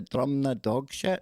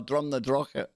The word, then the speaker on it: Drumnadrochit: Drumnadrochit. So funny hearing tourists trying to pronounce that when they ask how you get to Drumnadogshit. No, Drumnadrochit.